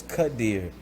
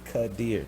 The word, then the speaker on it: Quadir: e star is the it's the e sound with the i and then the r is the so it's cut deer and it took you